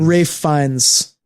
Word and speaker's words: Ralph Fiennes: Ray Fiennes or Ralph Fiennes? Ray Fiennes. Ray Fiennes. Fuck. I know. It's also obnoxious because his name is spelled Ralph.